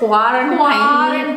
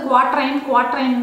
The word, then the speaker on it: quarantine: இது என்னது குவாரண்டைன்? அந்த குவாரண்டைன் வாய் எனக்குள்ள நுழையிறதே வந்து ரொம்ப கஷ்டமா இருந்தது. ஃபஸ்ட்டு நான் இந்த வேர்டை ப்ரொனவுன்ஸ் பண்ணும்போது குவாட்ரைன் தான் ப்ரொனவுன்ஸ் பண்ணிட்டு இருந்தேன்.